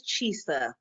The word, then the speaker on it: Chisa: mess up anybody's name my name is chisa okay c-h-i-s-a just like lisa but a ch in the front so i like people